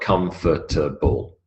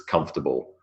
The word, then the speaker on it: comfortable: we'll see the answers notice comfortable is three syllables it is not comfortable it's comfortable three syllables memory to memory there's